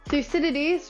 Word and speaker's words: Thucydides: There are two ancient historians, specifically Thucydides, which is pronounced with as many syllables as it looks like, and Herodotus, who has a forgivably pronounceable name compared to his counterpart.